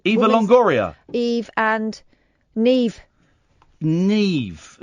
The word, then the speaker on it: Niamh: Neve. Yeah. It's spelled Niamh.